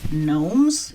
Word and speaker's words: gnomes: Gnomes, they are spelled with G, not K.